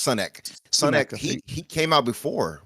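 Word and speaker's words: Sunak: It's Sunek.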